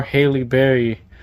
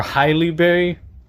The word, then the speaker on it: Halle Berry: I actually bought this movie for Halle Berry or Highly Berry. I I think I said it right the second time. Highly Berry.